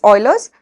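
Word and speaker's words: Euler: cool formula about Oilers formula this is actually pronounced as Oilers so Oilers formula for polyed roid so Oilers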